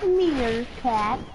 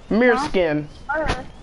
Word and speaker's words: Meerskin: It's not Meerkat. Meerskin. Meerskin. It's Meerskin. right here.